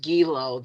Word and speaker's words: Gello: But the Herman Gello or Gello. I think it's pronounced Gilo. That's how I remember it from my childhood.